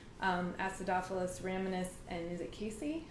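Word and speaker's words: casei: So 3 of the species that are known for best immune support are Lactobacillus, Acidophilus rhamnus, and is it Casey? How do you say that? Casey, yeah.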